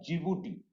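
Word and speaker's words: Djibouti: तो बीच वाला एक देश है जिसका नाम है जिबूटी, डी से स्टार्ट होता है, जिबूटी, डी साइलेंट हो जाता है।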